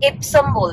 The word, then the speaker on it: Epsom: Speaking Tesla, the accent is a little different in pronunciation, here the letters E and S are like there is a place called EPSOM, so in the beginning I used to call